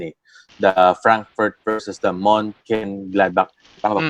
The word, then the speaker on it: Mönchengladbach: The Frankfurt versus the Mönchengladbach. Tama ba Mm. pronunciation ko dun? Ah, Okay, alright. So, 3-1 Frankfurt yung and final score nun. Mönchengladbach, tama.